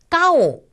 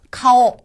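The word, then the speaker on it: かお: 카페 바로 한다고 했죠 그래서 따오 라고 발음하지 마시고 카오 카오 이렇게 바로 마셔야 됩니다 카오락 활용하는 바로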